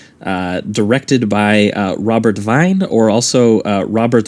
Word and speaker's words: Wiene: is kind of uh directed by uh robert devine or also uh robert wein i've uh heard a lot of the german